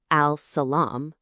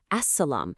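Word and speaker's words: السلام: We don't say al-Salaam. No, we say as-Salaam. See how the L just vanishes, and we put the stress on the S.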